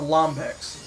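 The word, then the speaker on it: Lombax: A lambix? Lambot. God damn it. Jesus Christ, now you got me thinking. I know, it's a lombex. Lombex. You said it wrong and I was gonna say it wrong.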